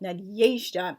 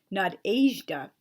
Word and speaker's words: Nadezhda: The letter E is and isn't the same as the English E. It can take the sound we expect of an E, but more often than not, it's a Y sound. For example, Nadezhda is really pronounced the way I just said it, not Nadezhda.